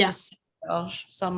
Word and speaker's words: St-Georges: Like I just choose that because in French we say Saint Georges and it doesn't have an S sound at the end. It's just Saint Georges.